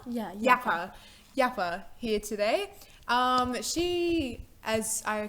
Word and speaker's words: Yapa: Yapa? Yeah, Yapa here today.